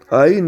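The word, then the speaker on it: עין: Aïn, donc. Et Aïn, donc, ça se dit, ça s'écrit en hébreu, enfin, dans ce passage-là, c'est écrit Bet.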